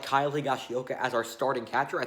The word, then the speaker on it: Higashioka: His name's a freaking tongue twister, but Higashioka, I'm pretty sure that's how you say his name, but, he was a lot better at the plate than Gary Sanchez was.